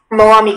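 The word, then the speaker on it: Mwami: Moami, can I please have all the information? Moami is the only pronunciation.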